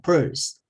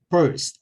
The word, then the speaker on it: person: 그러니까 person 하지 말고 purse. 그러니까 우예요. R은 우 모양으로 하면 돼요. purse.